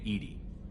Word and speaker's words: EDI: airlock is a jar why are you named Edie Ed is the phonetic pronunciation of Eed that is an acronym for